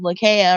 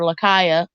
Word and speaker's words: Lakaya: African village in Africa called Lakea or Lakaya, either or, however you want to pronounce it.